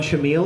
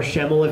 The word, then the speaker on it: Schemmel: that was actually a Sean shamil or Schemmel if you want to say it right excuse me so you